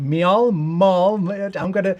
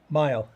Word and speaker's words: Miall: Miall. I'll just let you do it and bring on right now. Hey, Anthony, it's Miall.